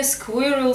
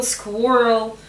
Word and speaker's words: squirrel: У слова squirrel можно насчитать как минимум три произношения. Squirrel, squirrel, squirrel. Особенно в американском варианте возможны разные звучания этого слова.